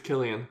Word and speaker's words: Cillian: Or is it Cillian or Killian? It's Killian. I think it's Killian. I've been saying his name wrong this whole time.